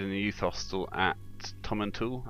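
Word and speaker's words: Tomintoul: a youth hostel at tommen tool I think it's pronounced uh which is a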